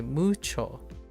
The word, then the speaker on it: mucho: Uh like you can stress moo cho like mucho, right? But you can also say mucho. So it could go like higher. The pitch can go higher. But as long as it's the stress is on the right syllable, it's okay.